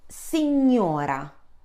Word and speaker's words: signora: GN makes the sound N as the English word new. So, signora, repeat after me, signora.